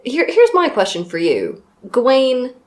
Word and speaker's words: Gawain: Gawain, Gowan, Gavin... I say Gawain. Gawain. I mean, I've heard different variations on this. Well, some people are still called that. Gavin, yes. No, Gawain, some people are still called as well.